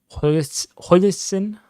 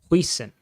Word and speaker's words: Huijsen: For Bournemouth, we have Travers Smith Huijsen. I just butchered that. Dean Huijsen. It's not an L, that's an I.